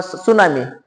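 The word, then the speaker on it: tsunami: नाही असं बरेच शब्द आहेत बघा सायकॉलॉजी सायकॉलॉजी स्पेलिंग कशाने चालू होते पी एस वाय सी एच ओ एल ओ जी वाय किंवा सुनामी सुनामी या शब्दांमध्ये अगोदर येते टी एस यू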